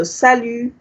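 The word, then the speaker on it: salut: you say thank you the t is silent you don't pronounce the t here so salu okay usually in french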